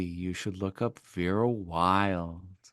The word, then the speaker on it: Wylde: should look up Vera Wild. Wild is spelled WYLDE.